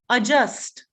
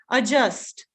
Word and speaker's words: adjust: do you say adjust so the d is silent it's not a it's adjust right adjust so you can't really